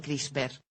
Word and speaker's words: CRISPR: espaciadas, o por sus siglas en inglés, CRISPR, pronunciado CRISPR.